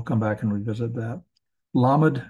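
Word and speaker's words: ל: back and revisit that lamad is the l sound meem is the m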